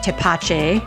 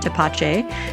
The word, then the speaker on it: Tepache: within a month so toache sorry for the terrible pronunciation the first time around toache definitely a project worth